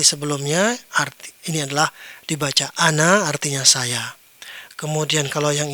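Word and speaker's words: أنا: Ar ini adalah dibaca ana artinya saya.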